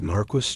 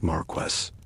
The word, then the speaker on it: Marquis: Wait, is Marquis just a fancy earl? And what's a Vic count? You blink rapidly, realizing you've entered a world where pronunciation alone is a minefield. Marquis is not Marquest and Viccount is not vicecount.